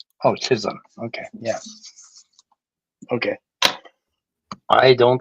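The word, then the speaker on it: Chisholm: Or how do you spell it? C H I S H O L M. Oh, Chisum.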